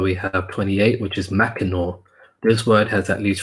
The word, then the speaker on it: Mackinac: They were formerly an important item in the trade of Mackinac, pronounced Mackinaw after the French, the famous trading post between Lakes Huron and Michigan.